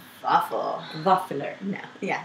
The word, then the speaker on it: Vaffler: One, they're spelled with a V, yes. Not a W. Waffle. Waffler.